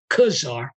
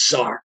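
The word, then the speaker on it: czar: And the thing is, if she had previewed, someone could have said to her, that word is not Khazar, it's foreign word pronounced Tsar. Forget the C.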